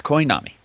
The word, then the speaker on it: Koi Nami: We have, what would you pronounce that? Koi Nami? Yes, Koi Nami.